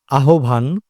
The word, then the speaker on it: আহ্বান: বাংলা উচ্চারণের নিয়ম অনুযায়ী হ এবং ব একসাথে যুক্ত হলে এর উচ্চারণ হ ব বা ব হ না হয়ে হ লোপ পায় এবং বয়ের পরিবর্তে ও বা ওকার ধ্বনিটি উচ্চারিত হয়।